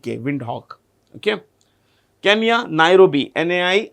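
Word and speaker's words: Windhoek: repeat w i n d h o e wind Hawk okay Kenya Nairobi nii R oi South Africa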